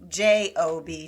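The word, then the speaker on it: Gob: is Job Bluth who it's spelled G O B. But it's pronounced J O B.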